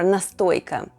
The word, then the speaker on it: настойка: a few months, the resulting infusion or НАСТОЙКА /nastoyka/ gives you a lot of energy. You know makes you STRONG LIKE BEAR 🐻 bear is МЕДВЕДЬ /myedvyet’/ in russian say it with me: НАСТОЙКА /nastoyka/ and МЕДВЕДЬ /myedvyet’/.